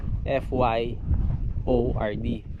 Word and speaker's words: fjord: Ang spelling niya FJORD. Yan o. Ang pronunciation niya ay FYORD.